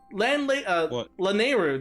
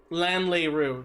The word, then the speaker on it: Lanayru: Lanlayru, because I couldn't pronounce it as a kid. I didn't know how it was supposed to be pronounced. So I called it Lanlayru when it's I'm glad you're Lanayru.